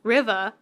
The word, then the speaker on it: Riva: it's spelled r-i-v-a riva i i want to call it river but with like an r sound so like river like a british british people would say and then she would